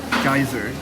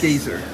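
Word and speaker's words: Geysir: we have been I have been calling it geyser it's gazer we just learned from the from a local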